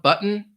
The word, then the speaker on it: button: the first one curtain button you don't really hear that T sound button Mountain again sometimes American